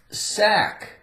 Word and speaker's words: sack: Sack, A-C-K again. Sack, we have a silent C, ack, ack, ack, sack.